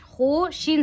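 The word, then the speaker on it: خوش: यहाँ पे देखिए वाउ मादूला यानी वाउ लिखा जाता है लेकिन पढ़ा नहीं जाता, जैसे कि खे वाउ पेश खू शीन साकिन खुश, खुश नहीं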